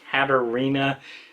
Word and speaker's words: Katarina: I mispronounced her name last time, so it's Katarina, and then I don't know about the last one, Bivald, hopefully.